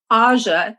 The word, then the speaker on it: AŽ: You say AŽ, that's what we're calling the AZ Hive. So the pronunciation for this hive in Slovenia is AŽ.